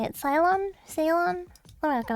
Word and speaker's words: Ceylon: Ceylon? Ceylon? Let me look it up again. I looked it up a little while ago. I forgot how to say it. Ceylon? Sa is in submarine. Salon.